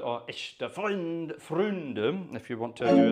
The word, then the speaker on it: Echte Freunde: It's called Echte Freunde, or Echte Freunde, if you want to do it in the proper pronunciation.